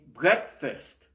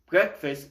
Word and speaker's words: breakfast: the first example where we combine two words break and fast but the pronunciation changes to breakfast are you ready for